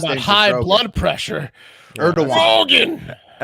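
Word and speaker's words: Erdoğan: forget okay speaking of Health scares Turkish president erdogan that's how they pronounce it is reportedly in critical condition after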